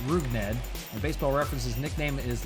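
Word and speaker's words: Rougned Odor: has odor first name looks cool as it's pronounced ruged a baseball reference's nickname is listed as Stink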